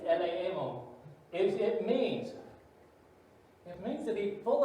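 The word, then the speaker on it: ἐλεήμων: It's not elemen, it's eleemon.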